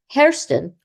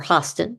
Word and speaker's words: Hairston: Bussey was in the room next to Peter Hairston, or Hoston, depending on how you pronounce it, and he too escaped out his window in a mixture of trousers and pajamas.